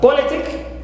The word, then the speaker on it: politic: from the end also uh politic the same thing politic so here also we don't stress penal which is Lee but we stress